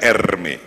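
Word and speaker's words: Hermès: Di dunia ini ada merek tas, namanya Hermes, bacanya Erme, yang sangat dicintai oleh para wanita dan dibenci para lelaki.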